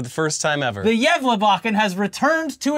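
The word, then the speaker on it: Gävlebocken: stockings the candy canes and eggnog because the yachan did I say it right you actually did for the first time ever the yev bachan has returned to its Post in the center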